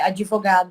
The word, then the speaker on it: advogado: palavra também muito comum é advogado que as pessoas se se torna muito equivocado na sua escrita colocam no de e uma é sendo que é advogado se escreve com d mudo um certo então é